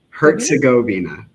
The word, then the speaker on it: Herzegovina: how do you pronounce that? Herzegovina? Herzegovina.